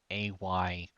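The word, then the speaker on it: Atrus: Um, they are AYTRUS. The AY being the specific vowel sound AY, not two different letters.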